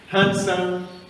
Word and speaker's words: handsome: dangerous sensible important ignorant handsome yes enhancement letter d like we said is not pronounced it is a silent letter we are answered not